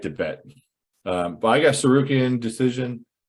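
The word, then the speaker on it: Tsarukyan: It's called Sarukian. We call him, the T is silent.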